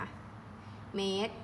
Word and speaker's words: เมตร: เหนื่อย มาก ไหม คะ เมตร เป็น หน่วย วัด ก็ ไม่ ออก เสียง รอ เรือ นัก เรียน ลอง อ่าน